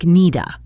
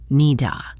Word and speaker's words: need a: This combination sounds like needa. Listen, needa.